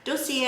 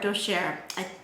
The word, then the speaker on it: Dossier: Anyway, I got a special delivery from my favorite perfume company called Dossier. Dossier or Dossier. It's French, so I don't know. I said it both ways because I was told two different ways.